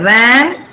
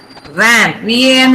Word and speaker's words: van: The teeth touch the lip, lower lip. Okay. Can you see? So we say van. V-A-N is pronounced van.